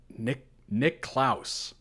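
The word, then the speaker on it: Niklaus: Oh, that is such a crazy pronunciation of that. I'm sure that's the more standard pronunciation. Nick Klaus. That's so odd to me. Nicholas is how we typically pronounce that, and it's just...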